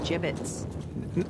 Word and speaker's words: gibbets: Avery had some gibbets left over. Gibbets? What? It's pronounced gibbets.